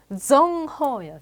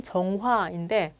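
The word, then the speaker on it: 郑和: 정허야, 정허. 뭐 우리식으로 발음으로 하면 정화인데 중국식으로는 정허.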